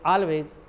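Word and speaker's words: always: आप हमेशा पढ़ाते हैं, ये ऑलवेज टीच, ऑलवेज, ऑलवेज नहीं, AL या AL, ALLI, उसको आल से उच्चारण करोगे, आल इज वेल, जैसे ऑल इंडिया रेडियो, CALL काल, BALL बाल, ऑलरेडी, ऑलवेज, ये नहीं ऑलरेडी। धीरे धीरे अपने आप को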